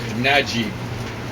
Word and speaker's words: Naguib: think that's just so the U is put in there so we pronounce the G the way the Egyptians pronounce what most Arabs pronounce as a J. So, Najib, which means something like